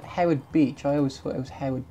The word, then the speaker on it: Howard Beach: and Jersey Bert Jersey for Hayward's Beach I said it wrong all this time it's that Howard Beach I always sort of